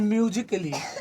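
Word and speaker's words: musically: तो देखिए यहाँ ए के बाद डबल एल वाई है, तो इसको म्यूजिकली नहीं पढ़ना है, इसको पढ़ना है म्यूजिकली, म्यूजिकली है ना, यानी इसका मतलब संगीत के दृष्टि से।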